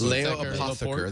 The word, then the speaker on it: Laporte: the way yes the way we should be pronounced Le aper that's how I say my name uh the